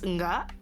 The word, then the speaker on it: ngga: With Indonesian, you have like extra sounds because like for example, if we say no in slang, it's nga. It's spelled ngga. Mm-hmm. And N and G because ng.